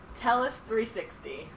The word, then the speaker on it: Tellus 360: It's called Tellus 360.